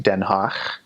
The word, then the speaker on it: Den Haag: It has a guttural G. So instead of G, it makes a ch sound. So like Den Haag, H-A-A-G, Den Haag, or Groningen, G-R-O-N-I-N-G-E-N.